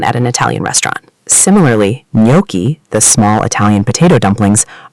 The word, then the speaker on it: gnocchi: Similarly, gnocchi, the small Italian potato dumplings, are not pronounced gnocchi. They are pronounced gnocchi, silent G, gnocchi.